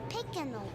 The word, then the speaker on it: Picanol: Aren't you the Pinnacle girl? Yes, and it's pronounced Picanol.